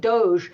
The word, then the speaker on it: DOGE: Um, they call it the Department of Governmental Efficiency, which the acronym for which is DOE, which is pronounced Doge.